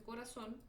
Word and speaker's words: corazón: Sabemos que corazón se acentúa porque su sílaba tónica está en la última sílaba, bien, y termina en N.